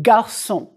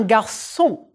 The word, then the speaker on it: garçon: Daniel est un garçon. The G is hard. Daniel est un garçon.